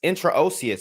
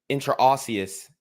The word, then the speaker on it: intraosseous: is tripping me up let's see how to pronounce this intra OCS intraocious okay that's good intraocious catheter with attached tubing right tibia intraocious intraosseous intraosseous yeah that makes some more sense intraosseous